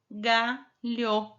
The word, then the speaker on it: galho: Aí aqui vamos colocar o H entre o L e o O. Como que ficou? Galho. Então, galo não é galho. Entenderam como que fica a sílaba? Quando a gente coloca o H no meio? Lhá, lhe, li, lho, lhu. Então, o que que você vai fazer nessa atividade?